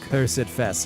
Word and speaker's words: Cursedfest: Going to say it like the British. Cursed. Cursed. Cursidfest.